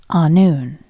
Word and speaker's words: Annwn: And that word, that world is anon, spelled a n in w and pronounced a noon.